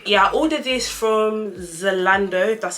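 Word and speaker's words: Zalando: a size seven yeah i ordered this from zolando that's how you pronounce the website one thing about me guys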